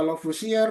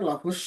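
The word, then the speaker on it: Lavoisier: Ini ada yang baca Lusier, Lafus ya terserah misalkan nama orang Prancis ya. Yang penting tulisannya adalah ini gitu ya. Kalau e kalau saya sendiri bacanya karena biar lebih mudah lafar ya gitu ya sesuai dengan tulisannya ya. Tapi katanya seharusnya kalau dalam bahasa Prancis lafus kalau bacanya ya.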